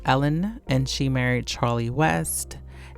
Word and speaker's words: Ellen: I don't know why I said Elin, because I have a friend named Elin and it's spelled the same way. But Ellen, her name is Ellen, and she married Charlie